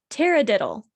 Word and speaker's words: taradiddle: the week our word of the week is tara diddle t-a-r-a-d-i-d-d-l-e sounds like a nonsense word but it